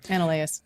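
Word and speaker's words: Anoleis: How do you pronounce that one again? Ananias.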